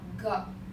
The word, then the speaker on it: 个: 个 or 个. Sometimes we pronounce 个 because if we have the single character, we pronounce 个. If something else, we pronounce the neutral tone.